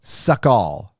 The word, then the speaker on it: Sukhoi: my christmas tree up it's sukhoi pronounced like suck all suck all suck all